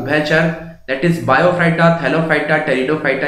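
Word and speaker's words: Pteridophyta: इसमें हमारे तीन तरीके के प्लांट आते हैं, that is थैलोफाइटा, that is बायोफाइटा and third one इज टेरिडोफाइटा, P silent होता है।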